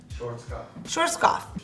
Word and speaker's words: Schwarzkopf: So I'm gonna be going in with this one from Schwarzkopf. How do you say that again? Schwarzkopf.